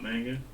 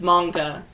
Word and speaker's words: manga: all laugh at him wait is it not manga it's manga there is no a sound oh yeah in japanese